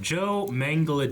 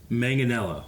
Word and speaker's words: Manganiello: may my man go there's no J sound in the pronunciation listen to Joe say it himself say mang as a mango and then had anello Manganiello mango Manganiello Joe Manganiello Joe Manganiello